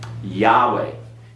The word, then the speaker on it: Yahweh: over here to Eric Yahweh you do not pronounce the vowels that are there those vowels are artificially there they are artificially to